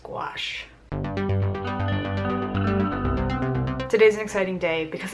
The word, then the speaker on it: gouache: first of all the pronunciation it's G gash guachi I think it's just gouache today's an exciting day